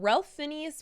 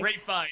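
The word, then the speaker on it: Ralph Fiennes: I thought Ralph Phineas was brilliant in it. You know, I've never heard it said that way, but you're right. That is how it's spelled. Fines. Nope. Yep. Sorry. Ray Fiennes.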